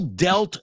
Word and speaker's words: dealt: rich word it's deal delt delt because in a logical world that word would be pronounced deal deal well this is English that's why I'm telling